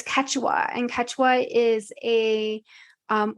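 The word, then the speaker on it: Quechua: It's Ketwa.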